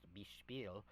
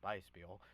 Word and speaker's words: Biespiel: know, is Beispiel, and Beispiel is spelled Biespiel. That's completely backwards from the original German that would have the EIs switched there, and it would be pronounced Bispiel. But of course they spell it differently, and I'm Beispiel.